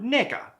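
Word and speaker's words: 네가: Plus, it's not even pronounced like the N-word. The N-word has a hard G like ga, while the Korean G is like a mix of a G and a K.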